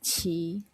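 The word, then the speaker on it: 漆: But, uh in Chinese language, it's pronounced as qi.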